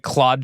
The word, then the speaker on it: Clawd: affiliated with the anthropic claude chatbot. It is spelled or was spelled C L A W D. Uh so Claude like a lobster is clawed.